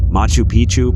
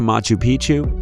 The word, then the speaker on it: Machu Picchu: that as well four Machu Picchu Peru when a place rhymes with picture you can almost bet